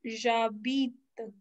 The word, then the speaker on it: j'habite: तो इसमें से कुछ भी पूछेगा, your answer will be like j'habite à blank में अपनी city, j'habite, pronunciation is j'habite।